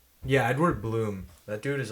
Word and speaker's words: Blum: I forgot, but he was Edward Blum. Yeah, Edward Bloom. That dude is like. Or Edward Bloom. Yeah, yeah. Shit, it's spelled Blum, bro. I was doing it phonetically, but he's leading it.